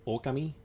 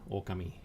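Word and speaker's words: Ōkami: as a wolf, and I've always pronounced it Okami because of the like little thingy above the O. And people always like looked weird on me, like, why do you pronounce it like that? And here we are finally in a Japanese game, and they pronounce it Okami.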